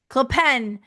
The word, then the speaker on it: Clopin: Clopin, right? Clopin. Clopen. That's right. It's an IN, but you pronounce it like an AN, right?